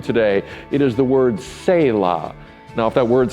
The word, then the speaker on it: Selah: It is the word Selah.